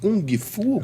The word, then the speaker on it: Kung Fu: É Kung Fu? Kung Fu. Kung Kung Fu. Fu. É, o G não se pronuncia.